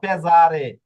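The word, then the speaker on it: pesare: এটা দেখুন মেজে বা পেজারে হ্যাঁ এখানে যদি আপনি উচ্চারণ না জানেন আর এই মেজের জায়গায় যদি পড়েন মেশে তাহলে কিন্তু বুঝা যাবে না।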